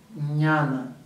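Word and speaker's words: jñāna: Então, às vezes vocês vão escutar o nome jnanendriyas, mas a pronúncia mais adequada é jnana. Ok? Que é um J, N com um tio em cima, A, N, A.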